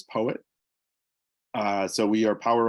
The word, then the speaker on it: PoEWit: poet uh we have we've had people call it Poe wit but uh the official uh pronunciation is poet uh so we are